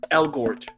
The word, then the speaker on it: Elgort: Elgort.